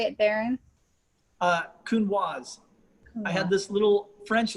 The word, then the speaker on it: Counoise: one is saying the name you hear it pronounced so many different ways it's like is it kunwa like what is it the only way i